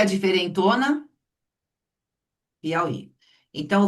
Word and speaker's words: Piauí: Em Piauí, o falso hiato está na última sílaba.